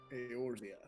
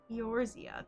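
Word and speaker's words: Eorzea: the most fitting title aortia yorzia there we go yours yeah i think i think you're supposed to pronounce the e like an a aorzia yeah probably yeah that's uh do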